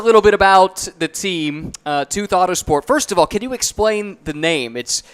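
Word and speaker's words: TWOth: Tell us a little bit about the team, Tooth Autosport. First of all, can you explain the name? It's spelled TWO, all capitals, and then lowercase th, pronounced tooth like what's in your mouth.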